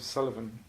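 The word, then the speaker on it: Suilven: died it's a postcard of a mountain called Sullivan in the North East of Scotland it's pronounced Sullivan but spell su i lov am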